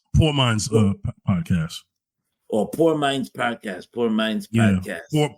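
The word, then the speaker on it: Pour Minds: mines uh podcast or poor Minds podcast poor Minds podcast poor po poor minds they spell it P o u r as in poor as in poor water oh poor Minds oh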